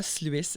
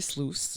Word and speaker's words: Sluice: Ce n'est pas Sluice, c'est Sluice. Rhymes with juice.